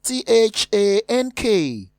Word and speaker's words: thank: Item 19 has the word spelled as T-H-A-N-K, which we pronounce thank.